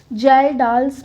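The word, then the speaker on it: Kjeldahl: इसका थोड़ा complex spelling है बट इसमें K साइलेंट है तो इसको हम प्रोनाउंस करेंगे जाल्डाल्स मेथड।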